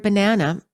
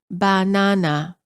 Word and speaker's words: banana: many languages the word banana is pronounced as banana all three syllables are stressed equally in English we pronounce the word as banana the second syllable is stressed the vowel within the